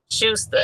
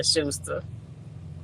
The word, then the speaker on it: Schuster: How you Oh, pronounce the company name? Schuster. Schu- Schuster. Okay. Yeah, Schuster.